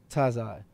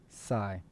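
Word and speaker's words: Tsai: Thundercat, the boss, Jay-Z, and I don't want to mess her name up, but Clara Wu Tazai. I would say Clara Wu Sai. I don't think you pronounce the T.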